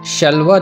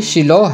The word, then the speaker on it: شیلوہ: ترجمے میں آیا ہے۔ اس کا تلفظ شلوہ نہیں بلکہ شیلوہ ہے اور مطلب ہے سلامتی۔